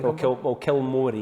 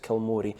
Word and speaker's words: Kilmory: Kilmory is how people pronounce it. Kilmory.